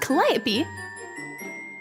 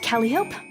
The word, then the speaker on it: Calliope: don't like cantaloupe my name is pronounced calliope not calliope not cantaloupe please remember you would